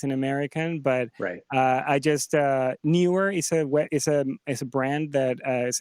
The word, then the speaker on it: Neewer: But I just Neewer is a brand that is a Chinese brand that has really cheap things that. How do you spell it? N-E-E-W. Okay, N-E-E-W. E-R.